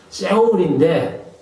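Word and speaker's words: שאול: 사실은 그래서 제가 이제 그런 말씀 들었습니다만은 고유명사를 쓸 바에는 또 그 원어를 쓸 바에는 원어 발음 그대로 쓰는게 안 좋겠나? 그래서 세울이요. 세울입니다. 세월 히브리어는 세울인데 이게 이제 죽은 자의 거처 무덤이란 뜻도 있어요.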